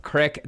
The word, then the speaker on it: creek: It's pronounced crick, Derek.